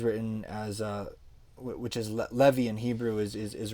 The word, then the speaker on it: Levi: like levi is written as uh which is levy in hebrew is is is written as lawy